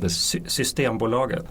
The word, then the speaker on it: Systembolaget: Systembolaget.